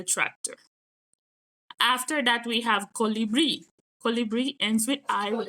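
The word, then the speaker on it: colibrí: After that, we have colibri.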